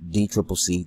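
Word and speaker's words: DCCC: look the the dnc the d triple c commonly pronounced d triple c the democratic party um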